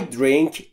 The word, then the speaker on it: drink: نگفتم drink یا drink. Drink. به این دلیل که بین D و R صدایی وجود نداره. ما هم صدایی مجاز نیستیم اضافه بکنیم و باید به این صورت تلفظ بشه. Drink.